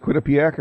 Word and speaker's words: Quinnipiac: Quinnipiac? Is it Quinnipiac? Yes, that's what it is.